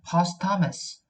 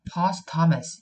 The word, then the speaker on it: posthumous: 그 다음에 사후의 posthumous, H 묵음이고요. posthumous, 요건 묵음입니다.